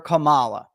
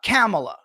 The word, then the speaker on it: Kamala: pundits and media personalities calling her Camala all of a sudden we were told after two years three years that it's uh camela or however you say it well that's how human